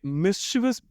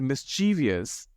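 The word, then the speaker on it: mischievous: तो आप इसे मिस्chievous ये ज्यादा प्रेफर कीजिए, इसका इस्तेमाल ज्यादा कीजिए, मिस्चीवियस को अवॉइड कीजिए।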